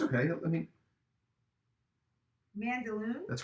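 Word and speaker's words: Mandaloun: you'll get it wrong it's okay let me mandalore that's correct you got it boom mm-hmm john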